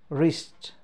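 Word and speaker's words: wrist: जस्तै अब यहाँ रङ होइन, यहाँ डब्लु साइलेन्ट भयो नि त होइन र, जस्तै यहाँ चाहिँ हामीले भन्नु पऱ्यो रिस्ट, रिस्ट भनेपछि यहाँ सबैमा के भयो, हाम्रो डब्लु साइलेन्ट भयो।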